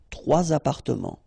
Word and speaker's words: trois appartements: and then appartement, apartments, starting with a vowel, so you should make the liaison. Trois appartements, okay?